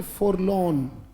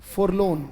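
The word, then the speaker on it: forlorn: एक वर्ड आता है बेटा बोलेंगे मेरे साथ उच्चारण बोले फॉर लोन बोलना पड़ेगा बेटा शाबाश एफ ओ आर एल ओ आर एन उच्चारण क्या है फॉर लोन सोमबर सोलन वो भी गोन फॉर लोन या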